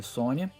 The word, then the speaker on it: Sonja: Se escreve Sonja, mas se pronuncia Sônia.